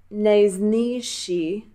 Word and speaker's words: nejnižší: Ono se to píše se ž a š. Jo. Když se podíváš na to, jak je to napsané, tak píšeme ni, ž, š, i, ale vyslovuješ to jenom jako š.